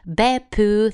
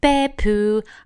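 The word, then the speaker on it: Beppu: I've ever been before starting with beo that's how they say at the station beo uh which is spelled b p p u um and that's a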